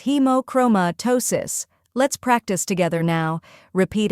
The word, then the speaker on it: hemochromatosis: The correct pronunciation is hemochromatosis. First part, hemo, sounds like he as in he and mo as in moment.